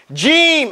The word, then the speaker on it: jeem: Jeem. Everybody say jeem. Jeem. Jeem. Some people find it difficult to pronounce this letter. Say edge. Edge. Edge.